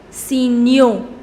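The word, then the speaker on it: signaux: newspapers so you see the pronunciation also changes signal in order to make it plural it becomes see Neo so you cut Al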